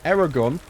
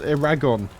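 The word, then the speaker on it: Aragorn: in my head anyway instead of calling him Aragon my whole childhood I I read his name as Aon which is funny to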